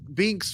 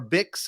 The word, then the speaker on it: Bix: And even though Binks was, or Bix, did I say her name? Bix. It's Bix.